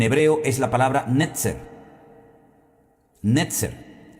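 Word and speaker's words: נצר: Netzer.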